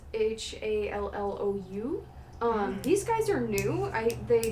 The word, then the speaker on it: Shallou: Another one is, I believe it's pronounced Shallow, but it's Shallou.